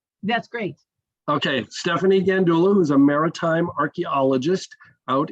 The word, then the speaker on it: Gandulla: Am I pronouncing her name correctly? Gandulla? That's great. Okay, Stephanie Gandulla, who's a maritime archaeologist out in Michigan, and